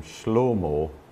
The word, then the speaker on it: Shlomo: Now, one of the most conspicuous differences is the way in which they pronounce an original long A vowel. So if you meet somebody from Turabdin, you'd say to them Shlomo.